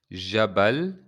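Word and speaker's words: جبل: Jabal, jabal. Notice that it's j. In Arabic, we don't have the j. It's j, j.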